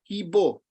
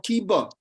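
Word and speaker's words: কিবা: The first word is Kibo or Kiba. Kiba Vipro. So Bengali means the immediately becomes O. In general, A is pronounced as O.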